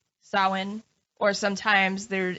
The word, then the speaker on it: Samhain: but it is pronounced sawin or sometimes there's it makes a v sound salvin or salveen like nothing with a